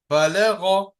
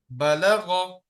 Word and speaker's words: بلغ: ترك Now words with thick and high letters. Razaqa, razaqa, khalaqa, khalaqa, balagha, balagha.